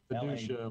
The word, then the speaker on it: Fiducia: Fiducia, like fiduciary, like trust. Fiduciary minus the R and the Y.